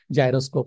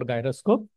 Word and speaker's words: gyroscope: It is pronounced both ways. I have heard people pronounce it as gyroscope or gyroscope.